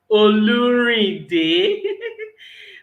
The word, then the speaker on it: Olurinde: and um i i really would like to pronounce that name again for emphasis oluri day my name is oluri i help people